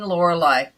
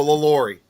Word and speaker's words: LaLaurie: Delphine Lorelei. Oh, Did Delphine. Oh, did I say it right? yeah. No, LaLaurie.